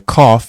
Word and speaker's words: Qaf: The Qaf is sometimes spelled Qoph and is said to be represented in English by the letters Q. However, it is always pronounced like a K.